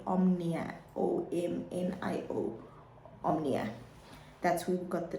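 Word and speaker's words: Omio: well yeah sorry guys I meant to say omnio not Omnia so ome so my spelling was correct it was my pronunciation I bought the train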